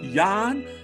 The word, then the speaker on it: Jan: is the polish powerhouse yawn you got to say it right yawn it's time to start pronouncing it the correct way yeah the polish